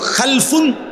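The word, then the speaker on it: خَلَف: হয় আরবিতে একটা হল খালফুন আরেকটা হল খালাফুন একই শব্দ শুধু উচ্চারণের মধ্যে একটু ভিন্নতা। মাঝখানে একটা লাম আছে। এই লামটার মধ্যে যদি সাকিন হয় তাইলে হল খালফুন।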